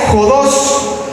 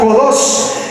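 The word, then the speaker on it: ὁδός: La palabra griega para camino es jodos, con acento en la O, jodos, que significa progreso, ruta correcta y el camino de la verdad.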